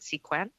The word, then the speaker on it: Sequan: Sequan, or Sequan, is it Sequan? Oui, c'est bien Oui. ça. Yes, that is how you pronounce my name, yes.